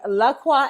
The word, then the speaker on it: LaCroix: welcome y'all i am drinking lakwa and you better say it right nick don't be shading my my seltzer okay lacroix and a little mango